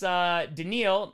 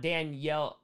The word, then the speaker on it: Danielle: lny with they fire it's pronounced denil not Danielle oh denal Hunter so